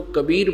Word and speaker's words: कबीर: है, कवि, कबीर, कबीर, तो हम उसको कबीर बोलते हैं, कबीर, वै बोलते हैं वै को। इतना ही बोलने का उच्चारण का अंतर है, प्रोनाउंसिएशन का ही फर्क है।